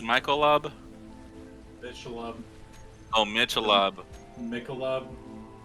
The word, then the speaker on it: Michelob: I think it depends like where you are.